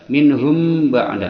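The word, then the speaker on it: مِنْهُمْ بَعْد: dua harakat inhum ba'da minhum ba'da mim mati bertemu ba Ini adalah Ikhfa Syafawi dia disamarkan dua harakat minhum bada minhum baikaun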